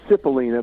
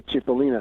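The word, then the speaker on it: Cipollina: butcher it yeah well they call them sip Alina but anyway I'm Italian so I know how to say chipolina okay chipolina see Ellen a bunch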